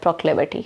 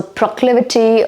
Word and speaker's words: proclivity: So proclivity or proclivity, both are okay. You want to pronounce it as pro or pra, both are okay. One is Indian, British, and the other is American. Both are fine.